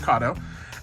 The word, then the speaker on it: Kato: let's talk about kado it's pronounced kado uh as some of